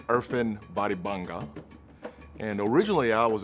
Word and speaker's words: Irfan: good people people people so my name actually pronounced right it's earthen bodybunga and originally i was actually born in